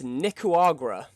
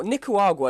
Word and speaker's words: Nicaragua: up on this list in seventh place is nicoagra nickwagra guac what i think nick waguar sorry my pronunciation is terrible now nicaragua you can ask isn't this worse than uruguay